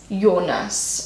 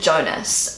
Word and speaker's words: Jonas: pronounce that terrible so this is how Google Translate cannot desert your nurse in English we would pronounce it Jonas not a popular name